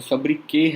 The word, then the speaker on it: sobriquet: इसका pronunciation भी कुछ और होता है. sobriquet है, I think. इसका T pronounce नहीं होता है.